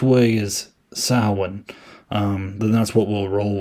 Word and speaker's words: Samhain: And he also wrote, as Loomis pronounced it, Sam Hain, which I guess it's really pronounced Samhain.